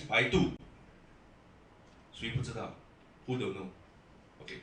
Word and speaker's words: Baidu: And good news is that 3 months ago, anybody do not know Baidu, or in a Caucasian way of pronouncing it, Baidu. You know Baidu? Okay, in Chinese, Baidu.